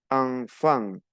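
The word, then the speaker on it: enfant: e n y n siempre que veamos e n y n en una en una palabra se pronuncia an una a una n nasal an como si nos tapamos la nariz yo pronuncio entonces ejemplo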